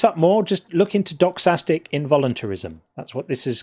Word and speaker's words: doxastic: If you want to look this up more, just look into doxastic involuntarism. That's what this is called. How do you say dog? Doxastic. D-O-X.